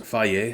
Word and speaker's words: Fage: That's pronounced Fage. It even tells you how to pronounce it, which is cool. See that right there? Pronounce. F-A-Y-E-H. Fage!